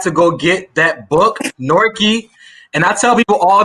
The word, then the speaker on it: Newark: the time you know you are from newark new jersey if you pronounce it as nork yes if you say newark you are not from new jersey but like i said